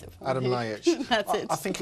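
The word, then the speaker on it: Ljajić: Delio Rossi, the man everyone remembers as the guy who hit the Fiorentina player, Adam do you pronounce it for Adam me? Ljajic.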